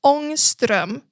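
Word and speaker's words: Ångström: So no, the A with the circle above it is pronounced totally differently. It's pronounced like an AO sound. So it's Angstrom, because then the 2 dots above the O also makes it a OE sound.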